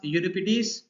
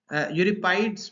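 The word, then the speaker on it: Euripides: Okay, फिर हमारे पास यूरिपिडीज, यूरिपाइड्स भी बोलते हैं, यूरिपिडीज भी बोलते हैं इसको, यूरिपाइडस भी बोलते हैं इसको, यूरिपाइडस, इसकी डिफरेंट प्रोनाउंसिएशंस हैं।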